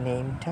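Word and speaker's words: name: এই এম এর পরে যে নেমটা হয়েছে এ দেখো এম এর পরে যে ইটা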